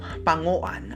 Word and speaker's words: Panguan: Sa wikang Sama Badiao, pangoan ang bigkas.